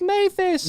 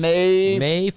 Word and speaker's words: Maphis: My last name is pronounced Maphis. Mayfist. Isn't that what I just said? Mayfist. Not a T, not a T.